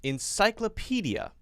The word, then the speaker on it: encyclopedia: How to pronounce encyclopedia. How to pronounce encyclopedia. Encyclopedia. Not clo.